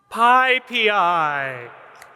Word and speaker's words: PyPI: Pi. P. Not peas. I. PyPI. And we have a little bonus. Python 3.14 is coming out soon, so this will be Python Pi. And in the future, when PyPI catches up, we will have PyPI.